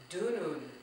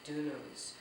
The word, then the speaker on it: dunun: I will be using the word dunun. Do you know what dunun is? It's spelled D-U-N-U-N. I'm actually surrounded by dununs.